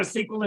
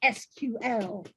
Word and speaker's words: SQL: I'm starting out with a SQL injection, which should give your system a major infection. Yes, my dear hacker, that's all very well, but everyone knows it's pronounced SQL.